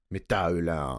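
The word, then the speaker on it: Métal Hurlant: It's probably like Ulan or something like that. Metal Ulan.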